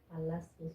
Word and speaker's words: Palacios: Palacios. You know, like where the king is Palacio.